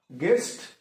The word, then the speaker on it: guest: Guest, GUST, guest में क्या silent letter है, we have to find out. And guide में भी, in both words we have silent letter U, that is U.